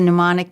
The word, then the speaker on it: mnemonic: minds program and we should say it's a mnemonic device did I pronounce that correctly right which is Greek for